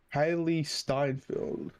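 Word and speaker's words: Hailee Steinfeld: what's your name uh haley steinfield i think is how you pronounce it hailey steinfeld oh okay i can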